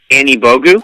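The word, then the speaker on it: Anigbogu: over it's ek we learned oh shoot ek an Evo goo that pronounced the right moderator okay okay that's good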